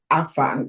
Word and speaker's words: afang: So one of the soups I grew up eating is called afang. It is spelled Afang.